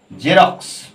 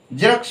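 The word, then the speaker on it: Xerox: কি বলি এটা এটা সাধারণত কি বলি না জেরক্স এটা বলি তো জেরক্স বলি দেখো জেরক্স বরকেন্দ্র উচ্চারণ হচ্ছে রক্স রক্স রক্স কস রক্স কস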